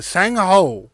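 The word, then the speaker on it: Sang-ho: It is literally spelled SANG. Composure. SANG dash HO. Sang Ho.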